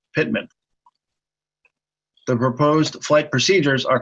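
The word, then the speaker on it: PTMAN: example the PT ma n Waypoint would be pronounced Pitman the proposed flight procedures are colored purple for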